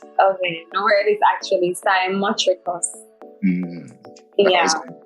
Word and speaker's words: cymotrichous: And I'm going to say Cymotricus. Cymotricus. That's No. your time? No. I'd say Simotricus. Simotricus. That's Yes. your final answer. Yes. Okay. No, it is actually Simotricus.